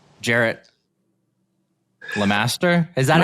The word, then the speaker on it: LeMaster: And we are joined by a very special guest, none other than the devil himself, Jared Lamaster.